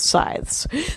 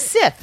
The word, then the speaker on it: scythe: I thought it was Sith, no? No. Sith is the bad guys in Star Wars.